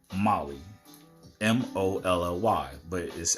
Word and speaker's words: MOLLE: hello Molly to start Molly is pronounced like the name Molly mo LLY but it